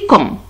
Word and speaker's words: quand: Quand, ici, quand, il ne se prononce pas, il ne se prononce pas.